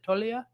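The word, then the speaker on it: Toglia: Infielders, Mookie Betts, Austin Riley, Pete Alonso, Ozzie Albies, and Michael, how did you pronounce it? Tolia?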